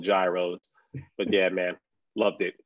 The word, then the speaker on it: gyros: call gyros over there the real the correct pronunciation is heroes but of course we americans love to switch up everything we call it gyros but yeah man loved